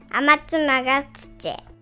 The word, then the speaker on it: Amatsumagatsuchi: not its full name "Amatsumagatsuchi" And here to give a demonstration of how it's pronounced with Japanese pronunciation Is my lovely six-year old daughter Yuno "アマツマガツチ" Amatsu is the online